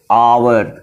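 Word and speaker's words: hour: क्योंकि ए एच से लिखा भले जा रहा है लेकिन ये बोला जा रहा है कैसे? आवर।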